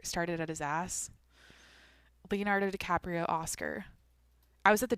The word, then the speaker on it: DiCaprio: DiCaprio.